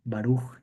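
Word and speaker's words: Baruch: hablar un poquito sobre sobre quién fue este baruj Espinosa su su nombre se pronuncia así baru aunque en realidad este siempre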